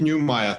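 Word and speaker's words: Neumeyer: in front of me i think it's keith newmeier keith neumayer thank you i don't want to do him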